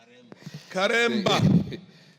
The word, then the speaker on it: Karemba: Karemba. Yes, that is the correct pronunciation, Honorable Speaker, and thank you very much.